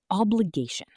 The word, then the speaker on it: obligation: Obligation. Obligation. Notice the stress is on the third syllable.